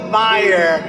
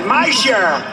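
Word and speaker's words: Meijer: A guy who spells his name M-E-I-J-E-R, but they pronounce it Meyer. The hell kind of a spelling is that? Meyer. Meisher. It's Meisher, but it's actually pronounced Meyer.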